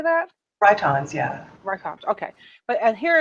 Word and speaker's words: Rhytons: Rhytons, yeah.